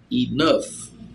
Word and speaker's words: enough: Então, olha só, pessoal, a palavra enough tem uma pronúncia bem diferente do que é escrita. A pronúncia dela é enough, com a parte forte no A, então fica enough, certo?